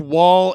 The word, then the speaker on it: Woll: It's pronounced Woll.